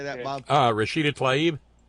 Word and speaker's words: Tlaib: Rashida Tlaib. Tlaib, that's it, Tlaib, Rashida Tlaib, the one that said impeach the motherfucker.